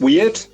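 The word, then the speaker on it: wyrd: It's, you know, phonetically it's like weird, it it seems to be more about fate and fortune and and I love that concept too that people talk about the weird being loose and the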